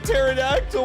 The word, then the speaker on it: pterodactyl: There's a P in pterodactyl. What do you mean I'm only pronouncing the T?